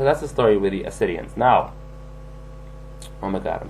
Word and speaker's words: Assideans: um let me just explain the term obsidians now it's spelled a-s-s-i-d-e-a-n-s there is no h at the beginning that's because it is a greek word and in greek of